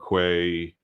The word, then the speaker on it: Quay: in from Docker Hub Quay or key depending on how you want to pronounce that um Amazon Microsoft wherever